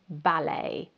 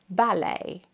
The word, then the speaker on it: ballet: The next word is French again, and it's pronounced ballet. Ballet. So you can't actually hear the T at the end at all.